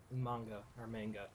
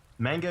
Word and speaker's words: manga: Dude, I'm so addicted to this manga. Manga if you're Canadian, manga if you want to pronounce it right.